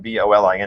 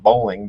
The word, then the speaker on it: Bolin: Madison Southern senior Caitlin Bolin signing to play Bolin, B-O-L-I-N, not bowling, Bolin.